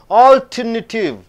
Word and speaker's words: alternative: So, you have to stress on A-L-L. Alternative. Alternative. Alternative. Alternative. So, the sound is alternative. Four sounds are there, four syllables are there.